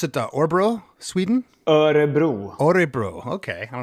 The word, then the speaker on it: Örebro: Do you pronounce it Örebro, Sweden? Örebro.